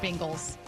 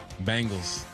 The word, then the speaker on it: Bengals: I swear to God you said bingles. Bengals.